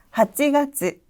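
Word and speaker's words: 八月: 자, 발음해 볼까요? 하지, 하지. 따라서 8월은 하찌가츠, 하찌가츠.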